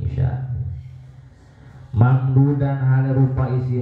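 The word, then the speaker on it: عشاء: Wal isya ulang sholat isya bikasir aini kelawan dibaca kasroh aine jadi bacanya ain isya.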